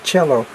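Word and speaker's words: Coelho: It might be Paulo, the way that it's pronounced, because he's Brazilian. And then it's Cello, Paulo Cello, but it's C-O-E-L-H-O.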